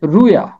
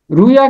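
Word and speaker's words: رؤیا: کے اوپر پیش، رویا۔ رویا کسی دور میں تلفظ ہوتا ہوگا، اور یہ پرانا تلفظ ہے۔ آج کل اس کا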